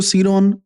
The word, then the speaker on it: cron: क्रॉन, इसको सीरॉन या क्रॉन या डिफरेंट लैंग्वेजेस के अंदर इसको डिफरेंट प्रोनाउंस किया जाता है।